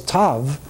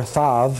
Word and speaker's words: Tav: And the last symbol of the Hebrew letters, the 22nd symbol, is Tav, okay, which, or Thav, you know, depending on how you pronounce it.